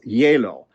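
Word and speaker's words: hielo: lesson and that is the word for ice in spanish is yellow and it's a little bit hard from these the spelling what we see in english and how you pronounce it so you can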